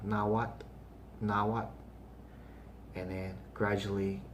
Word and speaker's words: Nahuatl: is now what um i hear people say nawato nawatel nawatu and they do that all the time even here in make when they do it all the time and then i tell them no now what now what and i'll say oh